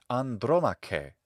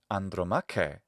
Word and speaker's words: Andromache: Hector's wife was Andromache, Andromache in classical Latin pronunciation, but Andromache in the classical Attic pronunciation of Greek. Andromache with a modern Greek pronunciation.